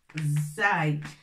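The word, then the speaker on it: زاي: Et ça se prononce Zay.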